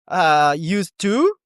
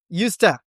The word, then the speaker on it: used to: Used to equals to used to. Weak form on to. You have to clarify this. As we covered, stress falls on used, and the main verb, I used to play football.